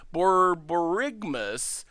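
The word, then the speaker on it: Borborygmos: I think Borborgamos is pronounced like the word Borborigmus.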